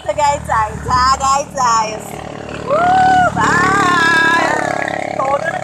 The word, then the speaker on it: Tagaytay: Tagaytay. That's the correct pronunciation of Tagaytay.